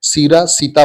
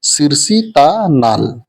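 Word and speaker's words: सिरसीता नाल: जान रहे थे तो वो लोग सीधा सधी इसको सीरा सीता बोलते हैं तो वो उसका उच्चारण सिरा सीता नहीं होता है सिर सता नाल है ना नाल मतलब खेत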